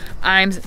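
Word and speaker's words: Ijams: And it's spelled like I-Jams, but it's actually Iams, that's how you correctly say it.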